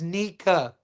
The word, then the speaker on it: Nika: So, the way you pronounce his name is Nika.